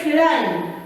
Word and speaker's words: climb: This one, very many people say climb, but this one is not supposed to be pronounced as climb. This one dies, and only pronounce this one and we say climb.